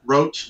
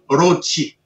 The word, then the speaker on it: Roach: But they come out with something, rochi. Rochi. If I was to say my name in a way in katakana, it would be Rochi, not Roach.